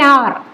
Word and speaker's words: hour: An hour. H is silent.